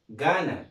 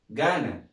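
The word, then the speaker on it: Ghana: طيب الكلمة اللي بعدها ها جي اتش اي ان اي، ها يبقى اسمها جانا. برافو عليك. اسمها ايه؟ جانا.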